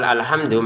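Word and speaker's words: الْحَمْدُ: Kalau kita baca dari awal alhamdu, maka ini harokatnya fathah nih ya.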